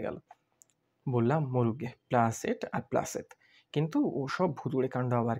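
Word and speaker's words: planchette: ঠেঙ্গিনা বলে তুই একটা গাধা প্লাঞ্চেট করে ভূত নামায় জানিসনে এরই মধ্যে কোত্থেকে পাঠার ঘুগনি ঝাড়তে ঝাড়তে কেবলায় এসে পড়েছে বললে উহু উহু ওর উচ্চারণ হবে প্লাসেত থাম থাম বেশি উত্তাদিসনে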